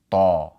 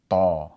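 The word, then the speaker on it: طَ: So if we pronounce the letter ta, which is a heavy T sound, with a fatha, then we would say ta, ta.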